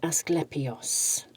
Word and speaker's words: Asclepios: Let's actually just have a quick look at this and make sure I'm pronouncing it correctly. I have the book. So, it is Asclepios.